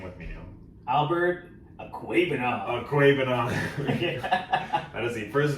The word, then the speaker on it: Okwuegbunam: My first fantasy pickup of the week, I'm going to say his full name right now, Albert Okwuegbunam.